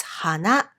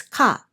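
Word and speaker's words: 花: Number one, we applied the Japanese pronunciation for flower, which is hana, to the kanji. Number two, we also imported the original Chinese pronunciation for this kanji letter, which is ka in this case. As a result, this kanji letter ended up having two different readings, hana and ka.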